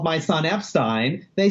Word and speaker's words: Epstein: The correct way to say it is Ep-stine.